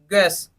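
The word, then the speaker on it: guess: garden का मतलब होता है चौकीदार सेकंड देखिए गैस जी यू ए एस गैस okay यहां पे यू साइलेंट हो गया तो जी आई एस एस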